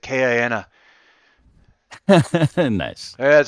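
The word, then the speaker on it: KINA: to say it because it's pronounced when he says it kiana nice yeah it says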